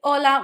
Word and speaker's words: hola: We say hola, we don't say hola. This makes it hard for you to spell stuff correctly because it doesn't have a sound.